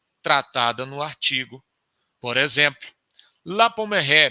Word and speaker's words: La Pommeraye: Por exemplo, La Pommeraye, me permitam usar aí a pronúncia francesa.